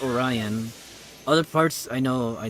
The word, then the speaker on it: Orion: people also pronounce it oron I know in English we pronounce it Orion other parts I know